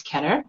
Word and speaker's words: Kedar: My name is Kedar, rhymes with cheddar.